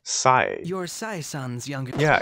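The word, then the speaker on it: Sae: Sai. You're Sai-san's younger... Yeah, it's actually pronounced Sai.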